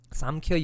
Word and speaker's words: Samkhya: Samkhya Yoga. Okay, that M is pronounced as NG in Bengali. So the problem is, so in Bengali, Samkhya Yoga is called Shankho Jog.